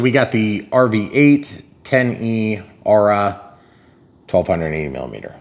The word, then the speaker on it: Aura: Okay, so we got the RV-8 10E Aura 1280 millimeter. So it is the Aura. I keep saying Aurora, and I'm sorry, guys. It's just my mistake. It's still new for us, so I'm saying it wrong.